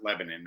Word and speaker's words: Lebanon: It's spelled Lebanon, though, but they pronounce it Lebanon over here in Tennessee.